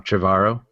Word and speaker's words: Trevorrow: And so, and I don't feel the same sturdiness from I say his name wrong. Trevorrow. I always say we- Trevor or something.